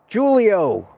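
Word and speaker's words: Giulio: Julio, I think that's how everybody settled into pronouncing it, even though it's spelled with a G.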